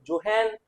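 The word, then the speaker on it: Johann: कहा ठीक है तो जॉन विलियम हिट्रोफ एक्चुअल में ये अमेरिका में होता तो इसका नाम होता है जॉन विलियम हिटफ यहां क्या नाम है जोहन विलहेम हिटफ एटम से रिलेटेड सबसे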